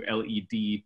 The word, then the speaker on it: Led: They changed the spelling of lead to LED to prevent any mispronunciation.